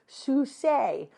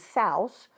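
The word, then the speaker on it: Sousé: Another turn for WC who stars as henpecked Edward Susay whose name is always mispronounced as Souse who exploits exploits everyone with his comic adventures as a substitute film director and the most unlikely bankard.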